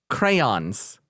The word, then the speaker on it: crayons: do this today crayons crayons that is pronounced with two syllables yeah crayons over here